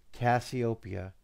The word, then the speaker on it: Cassiopeia: when you say it it's copia it's the end part you're getting wrong cassieopia so remember I call you Cassie Cassie is from of it so cassieopia try it like that